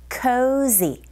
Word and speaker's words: cozy: cozy 하실 때 우리말처럼 그냥 지읒이 아니라 여러분 cozy 벌이 지나갈 때 나는 소리처럼 z cozy 이걸 느끼시면서 발음하셔야 돼요. 해볼게요.